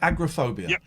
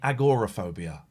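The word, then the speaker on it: agoraphobia: How do you feel about this current trend in pronouncing it agorophobia? I know that's how it's spelled, but a lot of people are I'm hearing it more and more agorophobia. It's always been agrophobia to me, but now people are saying and it's spelled Aging agorophobia.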